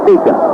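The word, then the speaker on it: Beauchamp: He spells a B-E-A-U-C-H-A-M-T, and he pronounces it Beecham.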